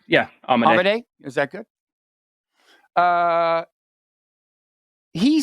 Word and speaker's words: Amodei: Not that I'm going to remember this, but how do you pronounce his last name? Amodei.